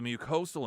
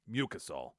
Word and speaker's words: mucosal: long emphasized that the mucosal immunity, naturally prompted by infection, is the key to broad protection against COVID. Quote, I still run into people. It's mucosal. Had the syllable wrong emphasis. Mucosal.